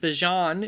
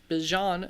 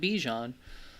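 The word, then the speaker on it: Bijan: By the way, if you're wondering why I'm saying it like that, Bjon is how it's pronounced. He himself has said it is Bjon, not Bejon.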